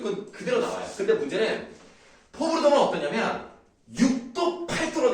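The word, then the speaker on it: fauxbourdon: 포부르동. 네. 아까부터 계속 발음을 포르부동 막 이런 식으로 다른 발음 잘못해가지고 포부르동 같은 경우는 어떻게 기보를 하냐면 제일 높은 것과 제일 낮은 것을 기보를 하죠.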